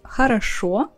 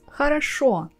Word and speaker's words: хорошо: Have you ever wondered why the Russian word хорошо we pronounce as хорошо and not хорошо? In other words, why this о sounds like а in Russian?